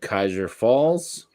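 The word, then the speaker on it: Kaiserpfalz: hampshire this one's called kaiser falls notice there's a p in there the p is silent uh they're a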